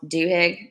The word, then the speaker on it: Duhigg: book called the power of habit by Charles Duhigg I've been pronouncing that right because interestingly okay so let's